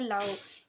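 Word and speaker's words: Laos: में Vietnam Cambodia और लाओ यहां पे एस साइलेंट है ओके तो इंडो चाइना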